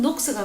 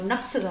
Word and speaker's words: 녹스: 중요한 지에서 해밀턴은 종교개혁 사상을 전파했는데 훗날 스코틀랜드의 종교개혁자 존 녹스는 존 녹스가 맞아요. 낙스가 맞아요. 녹스라고 썼으니까 녹스라고 읽죠. 낙스라고도 읽죠.